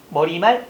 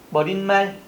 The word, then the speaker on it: 머리말: 근데 우리 발음 한번 해볼까요? 머릿말, 머릿빛, 머리글자, 머릿소리, 머릿기사, 인사말, 결의말, 반대말, 예산말 이런 식으로 뭐가 니은 첨가 소리를 많이 내죠. 그런데 얘들은 그렇지 않아야 돼. 된소리나 니은 첨가 발음이 되지 않는다는 겁니다.